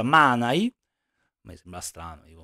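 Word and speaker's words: Manaj: nel finale su Manai perché abbiamo capito che si pronuncia Manai A me sembra strano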